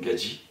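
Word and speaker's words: gadji: donc une gadiie c'est qui se prononce avec l'accent gitan donc une gaji un mélange de d GH J et une Gadii c'est une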